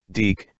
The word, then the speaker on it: DIC: reason why it's spelled D I see and pronounced deke is because it's supposed to mean something that was supposed to be an acronym for diffusion information and communication and he Hayward and deke entertainment kept that slogan throughout the entire lifetime